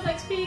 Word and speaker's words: XXP: We're from XXP Vlog on the YouTubes or XXP Games, pronounced XP because we're a little bit pretentious like that.